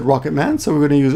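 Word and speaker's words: ロケットマン: I gotta be careful not to pronounce that in English. I want to say rocket man, but it's rocket man.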